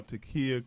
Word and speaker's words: T'Keyah: Takia Crystal Keymah.